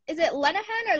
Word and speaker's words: Lenehan: Is it Lenehan or Lehan? Lenehan. Yeah, there we go. Lenehan.